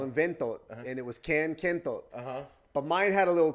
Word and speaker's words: Kentot: People don't know how to say it really. It's really Kentot, but like when I'm sending liners to anybody, nobody's going to get that unless they have that like Filipino accent.